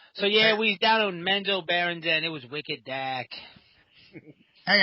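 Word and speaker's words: Menzoberranzan: That's all you have to do. It's Menzo, Bear, and Zan. That's how you say it.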